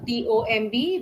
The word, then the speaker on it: tomb: T O M B where B is silent.